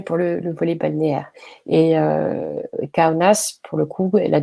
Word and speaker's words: Kaunas: Vous noterez que je prononce Kaunas, mais si je vous prononçais à la lituanienne, je ne vous prononcerai pas comme ça, mais je ne vous ferai pas cet affront. Kaunas, donc qui est plutôt